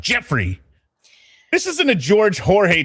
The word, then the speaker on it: Geoffrey: or Jeffrey is that people that spell it Geoffrey, sometimes they like to be called Joffrey, right? Well, like yeah, those are people we know it has to be done. right. So then you say it and you know, oh, it's spelled like this, and then they're like, no, it's pronounced Jeffrey.